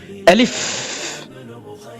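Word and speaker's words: ألف: শাইতানির রাজিম বিসমিল্লাহির রাহমানির রাহিম চলুন শুরু করি আলিফ আলিফ আলিফ আলিফ আলিফ এই আলিফ হরফটি উচ্চারণ করার জন্য হামজা লাম ফা তিনটা হরফের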